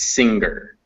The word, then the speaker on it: singer: for one the uh the n and the g are not pronounced separately it's not singular it's singer does that make sense